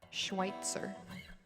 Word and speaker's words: Schweitzer: corrected me at schweitzer i don't know why i want to add an extra syllable and that's what always trips me up schweitzer okay well if you